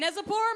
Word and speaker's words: Neczypor: gel today please give it up for nezipor everybody dave rubin everybody thank the man how are we doing yes my name is neselborn my last name rhymes with lezzy which was an